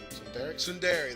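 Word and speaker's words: Tsundere: Sundari, that's it. That's how it's pronounced.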